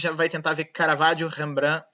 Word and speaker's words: Rembrandt: Porque nós em português falamos Rembrandt, mas se botar no tradutor holandês vai dar Rembrandt, né? Então são muitas formas de dizer, aí eu vou ficar com Rembrandt mesmo.